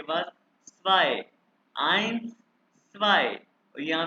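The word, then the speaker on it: eins: है ए इ तो ये इंग्लिश वाले आई की आवाज प्रोनाउंस करें ए इकट्ठा है ये देखो इंग्लिश वाले आई की आवाज यानी इट्स बीन आइंस आइंस क्या है ये आई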